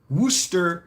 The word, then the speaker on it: Worcestershire: uh give us a class on how to pronounce worcestershire Wooster yes there you go pizza with pineapple ham